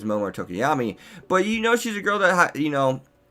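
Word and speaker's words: Tokoyami: that speaks volumes for Tokiyama's character. I mean, I want to know how strong is Tokiyama, or Tokiyami, I believe it's pronounced.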